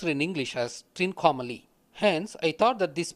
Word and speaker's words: Trincomalee: with a triangle is Rico anomaly which is pronounced in English as Trincomalee hence I thought that this base mate represent